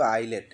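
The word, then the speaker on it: islet: আই এস এলইটি এটার উচ্চারণ কিন্তু আইলেট। এখানে এস এর উচ্চারণ হয় না।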